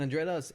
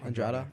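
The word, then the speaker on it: Andrade: the cage yeah and Andrea Andrea or how do you say it andr andrada yeah she um she's she's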